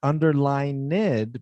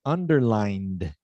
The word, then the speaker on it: underlined: if it doesn't end if the original verb doesn't end with the t or a d sound we don't give it an extra syllable so not underline ned but underlined underlying underlined yeah but it's not a t it's a d so not underlined but